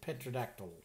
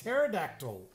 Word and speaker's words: pterodactyl: Because the P is silent. But I just said petrodactyl. It's pterodactyl.